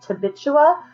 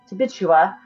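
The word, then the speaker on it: Tituba: their slave, Tabbitua, who or I always say it wrong, it's Tibbitua, who is not a white Puritan.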